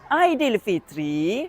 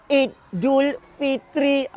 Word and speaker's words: Aidilfitri: A I D i L F I T R I Aidil Fitri bukanlah idil kemudian Jarak Fitri ataupun Idul Fitri. Kurang tepat tu yang betul Aidil Fitri.